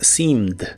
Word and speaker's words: seemed: En el pasado es seemed. Igual se pronuncia con la I larga o doble y la última E no se pronuncia, solo la D. Seemed, seemed.